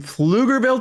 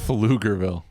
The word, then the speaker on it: Pflugerville: My name is from Pflugerville, Texas. Pflugerville.